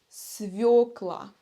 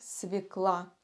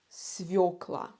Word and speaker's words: свёкла: последний овощ свёкла свёкла но очень часто носители языка совершают ошибку и произносят это слово как свекла это разговорный вариант свекла свекла но правильно свёкла хочу поделиться лайфхаком если у вас в слове есть буква йо значит ударение падает на букву ё свёкла А теперь давайте